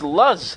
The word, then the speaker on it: Luz: It's lose. It's Luz. Is it Luz? L-U-Z. But it's pronounced Luz.